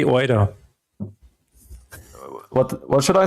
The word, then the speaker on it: Oida: Oida, indeed. That is exactly how you say it.